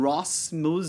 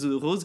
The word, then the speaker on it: Ross: of China Moses, and so maybe Moses and Ross, Rose, and he pronounced her name Diana Rose.